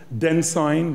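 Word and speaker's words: Densign: chairman of sporting equals den sign rhymes with ensign white and the chief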